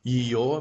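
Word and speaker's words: её: Here are the two most common words that have the yo in it. This is ее, meaning her, like this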